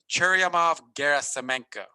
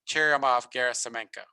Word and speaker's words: Churyumov-Gerasimenko: So this comet is Comet 67P Churyumov-Gerasimenko. I almost want to give people bonus points if they can make a video of that and send it to me, pronouncing it correctly. So 67P Churyumov-Gerasimenko.